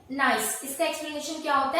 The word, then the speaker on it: gneiss: Metamorphic rock का है ये जो आप देख रहे हैं GNEISS, ये आपको स्पेलिंग दिख रही है, बस इसका एक्सप्लेनेशन होता है नाइस। इसका एक्सप्लेनेशन क्या होता है? नाइस।